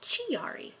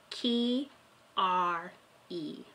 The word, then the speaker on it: Chiari: title of this video you're going to want to pronounce it GRE but trust me it's key are e malformation what is Chiari